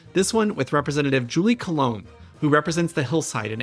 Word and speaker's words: Coulombe: Coulombe. Coulombe, that's how I said it. I know. Yeah, my husband is French Canadian, so I just tell people it's more French than English, and so the B's silent, so it's fine.